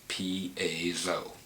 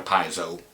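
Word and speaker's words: piezo: about it number one that is how you pronounce it is Pao it's not a piso you know the tweeters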